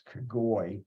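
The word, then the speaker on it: Kogoj: but the cogent ly that J is pronounced like an I so it's cagoli believe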